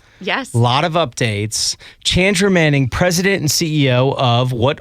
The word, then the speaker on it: Chandra Manning: Chandra Manning. Chandra Manning.